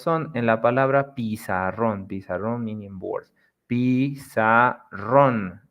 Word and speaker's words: pizarrón: Pizarrón meaning board. Pizarrón. As you can notice, the strong part, the word, the strength is on ron.